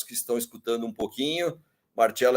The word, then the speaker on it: Marcello: Então, meu nome é Marcello, é assim mesmo que se pronuncia, com 2 L's, sou filho de italiano,